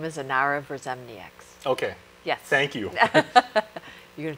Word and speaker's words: Inara Verzemnieks: Her name is Inara Verzemnieks. Okay. Yes. Thank you. You're going to try to pronounce it now?